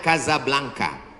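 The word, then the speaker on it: Casablanca: nama negaranya Maroko ibukotanya tulisannya Caca blancha cara bacanya Kadzab langka Kaza artinya rumah Blanca artinya putih Kasablanka rumah warna putih bahasa Arabnya ada rolbok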